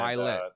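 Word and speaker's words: Ed Mylett: I got a quote for you from this is Ed Millett, right? Did I say his name right? Ed Milet, he's the one that Milet.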